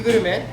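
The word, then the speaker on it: グルメ: BQ gurume. BQ. BQ. BQ means B level. And gurume is a katakana way of pronouncing gourmet. Gurume.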